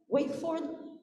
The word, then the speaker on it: Wakeford: Yeah, Wakeford.